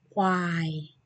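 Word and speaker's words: ควาย: I share you how to pronounce it. Again, listen carefully. Gluai, quai, gluai, quai.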